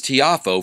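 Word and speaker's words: Tiafoe: Is that how it's pronounced? Tiafo?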